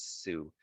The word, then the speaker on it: Sioux: indigenous people called the sioux that's how it's pronounced is sue and then they found